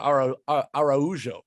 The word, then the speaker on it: Araujo: with a chance for Araujo, which I learned that's how you say it over the weekend as well.